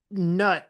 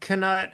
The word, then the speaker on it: Knut: And they also said that they pronounce nut without the K, Huh.